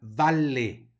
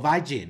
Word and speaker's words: valle: no ghementes sino dementes luego tenemos una doble l que hay que pronunciar vale No Valle no voy a decir Valle vale lo mismo en la